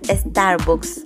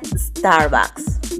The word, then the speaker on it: Starbucks: No se pronuncia Starbucks, se pronuncia Starbucks.